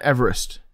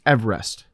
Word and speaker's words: Everest: you know that yeah that's how the guy's name was pronounced not everest it's everest that's the correct way